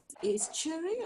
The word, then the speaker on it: estuary: Estuary or estuary? That's right. The second one you said, estuary. Estuary. Thank you. It sounds like a ch.